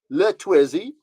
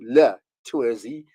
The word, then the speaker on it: Luh Twizzy: Just to tell you, so it's called Luh Twizzy, and it's spelled Luh, okay? And then TWIZZY. So Luh Twizzy, this phenomenon, particularly on Twitter, encouraging young people